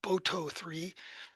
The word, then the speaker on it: Boto3: I think it's commonly pronounced BOTO3.